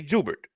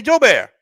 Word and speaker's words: Jubert: So us as the family we say jubert but anybody else outside of the family Lafayette plays aunts opaloosis